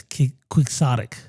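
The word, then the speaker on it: quixotic: It's donkeyote, but the but the adjective in English is quicksodic.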